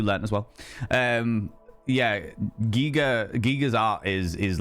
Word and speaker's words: Giger: Um, Giger, not Geiger. Is Is that right?